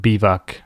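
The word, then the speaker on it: biwak: be back in Polish we have a word bivak which is just spelled b-i-w AK bivak Bible work which I guess French pronunciation will be black yeah that's why the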